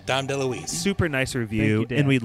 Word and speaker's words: Dom DeLuise: de louise's family for the pronunciation of his name uh as dom de lewis so we're sorry about it oh yeah sorry lewis not don dale louise but yeah great interview no dom deluise super nice review and